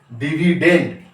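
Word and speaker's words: dividend: আই ভি আই ডি ই এন ডি ডি উচ্চারণ হবে এখানে ডিভিডেন্ড ডিভিডেন্ড কে বলবো আমরা ভাজ্য আচ্ছা ভাগফল ভাগফল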